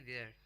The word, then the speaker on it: vier: VIER spelling है उसकी, और उसको बोलेंगे देयर। गुड।